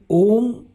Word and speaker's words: ॐ: आपने ध्यान दिया होगा मेरे होठ बंद नहीं थे जबकि म बोलने के लिए होठों को बंद करना पड़ता है। वास्तव में यही रहस्य है ओम के सही उच्चारण का।